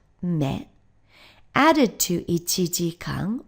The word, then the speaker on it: 目: fifth so this character for I which is pronounced me added to it dang 1 hour long makes